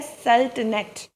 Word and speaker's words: sultanate: अरबी का वर्ड है सल्तनत, उसको ये वर्ड इसी तरह इंग्लिश में चला गया लेकिन इंग्लिश में इसकी प्रोनाउंसिएशन डिफरेंट है, वो है सल्तनेट, सल्तनेट, ठीक है, सल्तनेट।